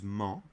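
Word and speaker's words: -ment: In French we use ment, M-E-N-T. The en sound is made by the E and the N together. En, and the T is silent, always.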